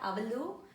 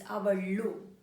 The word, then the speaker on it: ಅವಳು: It's the tongue tip has to touch upper part of your mouth. It's not avalu, it's avalu. Very important. And ivalu. Okay, avalu, ivalu, avlu, ivlu in a colloquial version.